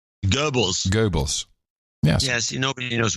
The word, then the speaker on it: Goebbels: rest I'd like to get a really accurate pronunciation of Gibble's Goebbels yeah I'd like to get a real accurate print that's the accurate pronunciation Goebbels Goebbels Goebbels yes yes nobody knows were you talking